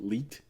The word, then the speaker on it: leet: maybe I'm mispronouncing it. Leet. It's when you're using numbers to duplicate letters. Oh, Okay, so it is leet, just like, but it's Okay. like leet speak.